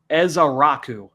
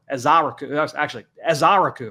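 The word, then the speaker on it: Ezeiruaku: Now, the last name, Donovan Ezaraku. Ezaraku. All right. That's going off the pronunciation guide from BC. So Ezaraku. Donovan Ezaraku.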